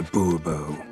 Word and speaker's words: Bourbeau: Monsieur de Bourbeau. The emphasis falls on the last syllable.